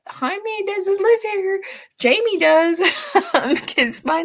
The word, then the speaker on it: Jaime: in me um and they want to pronounce it as Jaime because that's how it's spelled and it's funny because